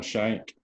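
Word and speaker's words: Schenk: really him and that adam's neck is that how you say his name that i only learned him adam shank yeah adam last name adam shank the only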